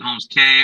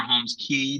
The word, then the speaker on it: Holmes Cay: the short answer and you can pronounce it homes K or Holmes key depending on how they pronounce it in your country some places pronounce it